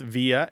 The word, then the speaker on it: via: the second thing is there are two standard pronunciations of this word and they overlap greatly and it's not altogether clear to anyone which one is the most correct at all times throughout the English-speaking world people say both via and Via there is a general